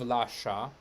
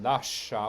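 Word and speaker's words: lascia: word so we have instead of la sha la sha single we have la sha with two and you can uh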